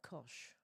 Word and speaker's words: Koch: ties them together is Coke money. Here in Australia, we would pronounce that kosh.